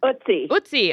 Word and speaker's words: Ötzi: How do you pronounce it? I'm probably saying it wrong. Ötzi.